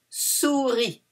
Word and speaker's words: souris: Une souris. Doesn't finish by E, but it's une. Une souris. We don't pronounce the S. And the I is a E in French.